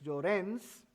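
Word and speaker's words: Lloréns: En Puerto Rico, y aquí hay un pequeño typo, Luis Llorens, acento en la E y S, Luis Llorens Torres,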